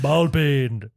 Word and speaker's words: ball peen: Ball peen.